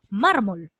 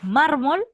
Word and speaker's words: mármol: razón si se tilda mármol tú dices mármol o tú dices mármol tú dices su mármol la fuerza de voz dónde está en la penúltima entonces ya has identificado